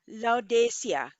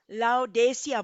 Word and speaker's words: Laodicea: सातों churches Turkey में है, और उनका प्रोनाउंसिएशन है अ, ले आ डे किया, ले आ डे किया। और हम लोग लाउडेसिया बोलते हैं ना।